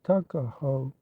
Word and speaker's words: Tuckahoe: not belong to him Eastern Shore men usually pronounced the word took as tuck took a hoe therefore is in Maryland parlance Tuckahoe but whatever may have